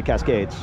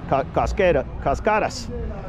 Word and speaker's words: Cascadas: I always pronounce it wrong. I always say Cascades. Cascadas.